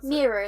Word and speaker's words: Mira: I really, really love, is she Mira or Mara? Mira is how I said it, and that's how they say it on the audio bit.